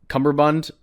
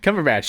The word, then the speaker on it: Cumberbatch: Cumberbund or why did you say his name like that? What does that because mean? It's so fun because his name's so Cumberbatch. Cumberbatch, yeah.